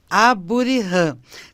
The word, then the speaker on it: Aburihan: nome é abuan tem esse H Zinho aí esse H ele é pronunciado então é de origem